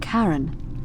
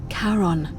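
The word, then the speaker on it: Charon: Only your pronunciation is a little off. The name you heard wasn't Karen. It was C H A R O N. As in Karon, the fairyman of the dead. Kaon, who in exchange for the right coin, helps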